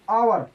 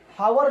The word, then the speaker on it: hour: जैसे कि एन आवर लिखा तो होता है HOUR, हावर लिखा होता है, लेकिन एच साइलेंट रहता है इसलिए पढ़ते हैं एन आवर, 1 घंटा।